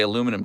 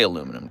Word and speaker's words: aluminum: Does she say aluminum correctly, or does she add extra syllables? She does say aluminum correctly. Yeah. But here's the deal. I'll defend that as well, because in Britain, in the UK, they add an extra I. It is spelled aluminium over there.